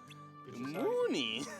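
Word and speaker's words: Munny: We earned 50 money. That's about all we need. Yeah. So, yeah, the currency in this game is money, which is spelled M-U-N-N-Y. Money. Mooney.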